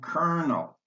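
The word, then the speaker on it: colonel: And kernel, the first L is pronounced R.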